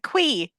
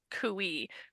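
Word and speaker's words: khui: But then I listened to the first 2 Ice Planet books, the audio versions, and they pronounce it quee. Let me explain why it is pronounced cooey and why the audiobook narrators are wrong.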